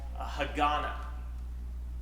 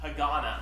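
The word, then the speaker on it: Hagåtña: right here it's called Hagana Hagana I believe the T is silent there but we're gonna initially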